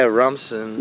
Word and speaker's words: Rumson: Yeah, Rumson, yeah.